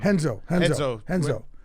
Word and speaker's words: Renzo: So MVP, check it out, 30th and 7th here, Renzo Gracie Gym. Henzo. How do you They're spell spelled with the R's, so the Brazilian spell with the R's.